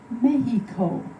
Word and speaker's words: Mexico: Shh, Mom, they don't pronounce the X in Spanish. It sounds like an H, Mexico.